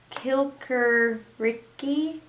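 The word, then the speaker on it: Kikeriki: To the German, the rooster seems to say kilkericki, the I's in this word having the sound of English E.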